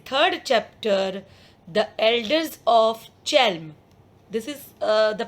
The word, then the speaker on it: Chelm: But in this third chapter, the elders of Chelm, this is the pronunciation of this Chelm, you will find some different story.